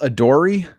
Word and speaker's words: Adoree: that vein they signed is it pronounced adori it is i believe it is because there is a